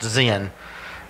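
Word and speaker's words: Zin: in the wilderness of Zen z-i-n and some translations it says sin s-i-n but it's pronounced Zen now in this particular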